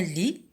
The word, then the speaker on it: lit: Et une literie, un lit, on va écrire le T, qui se trouve ici dans le mot literie et qui ne se prononce pas dans le mot lit.